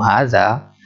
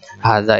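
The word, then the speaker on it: هذا: apa pengecualiannya pengecualiannya bahwasanya Haza itu walaupun nulisnya seperti ini nah di tulisan seperti ini harga nya di tulisan seperti ini tapi di pengucapan itu seolah-olah di sini ada Alif kita tambahkan hari jadi bacanya begini Hahaha Dah dua-duanya panjang Hai Kak ini dalam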